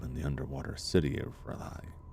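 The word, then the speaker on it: R'lyeh: the underwater city of Riley. I always pronounce it off. Riley.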